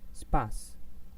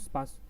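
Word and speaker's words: Spaß: The first one is spas. You can see this, spas. I'm speaking a little bit longer here, not spas, and this is heiß.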